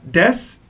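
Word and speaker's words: です: is called death now death even though it's written as Desu it's going to be pronounced like death this is the most natural way to say it so I want you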